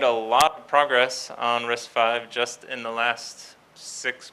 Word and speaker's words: RISC-V: wiki page on wiki Debian not org slash risky or risk 5 as it's supposed to be pronounced so risk 5 is an open-source instruction